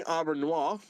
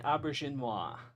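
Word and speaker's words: Auberjonois: Chief O'Brien, played by Colin Meaney, Odo, Rene Aubernois, and Worf, Michael Dorn. Did I say his name right this time? Rene Auberginois.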